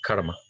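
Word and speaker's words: CCRMA: que se llama así ellos lo pronuncian en el karma es un centro de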